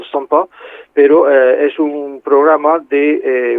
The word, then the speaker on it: CIMPA: Y aparte de eso, pues he participado, hay un programa de la Sociedad Matemática Francesa que le llaman CIMPA, o sea, ellos pronuncian SOMPA, pero es un programa